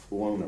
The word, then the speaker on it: Buono: How do you say his last name? Dwayne Buono. Buono, B-U-O-N-O? Yes, sir.